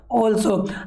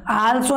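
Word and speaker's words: also: ऐसे याद रख सकते हो, not only what ऑल्सो। आल्सो नहीं बोलना है, फिर बोल रहा हूँ राइट प्रोनाउंस करना सीख जाना।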